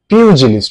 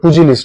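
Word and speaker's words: pugilist: সো পিউজিলিস্ট, উচ্চারণটা পুজিলিস্ট নয়, পিউজিলিস্ট মানে হচ্ছে বক্সার।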